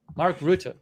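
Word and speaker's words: Mark Rutte: Mark Rut. Mark R. There you go. That's from Wikipedia. Mark Rut.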